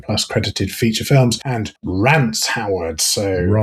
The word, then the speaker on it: Rance: credited feature films and Rance Howard. So Rance Rance Rants maybe Rance here. Maybe Rance in America. Isn't it rhyming? It's spelled like Lance but with a R.